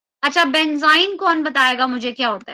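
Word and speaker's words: benzyne: तो उसको हम क्या प्रोनाउंस करते हैं, that is considered as बेंजाइन। उसको क्या बोला जाता है, बेंजाइन।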